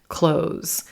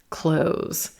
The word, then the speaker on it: clothes: th sound and the noun close is dropping away because it's really tough to say clothes clothes to move between those sounds so over time native speakers have just dropped that sound from the pronunciation of this word clothes clothes close the